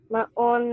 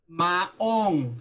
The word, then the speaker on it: maong: Maon na pantalon. Maong. Say it. Maong. Maon na pantalon. Maong. Maon na pantalon. Not maon. Ong. Ong. Say it. Maong.